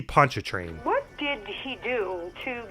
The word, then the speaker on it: Pontchartrain: He's got a heart as big as Lake Pontchartrain. Here's another pronunciation butchering. I believe it's supposed to be Pontchartrain.